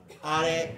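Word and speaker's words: あれ: Are. Are wa nan desu ka? That's not R. Okay, you don't say that like English. It's are. Another note that you want to take. Are.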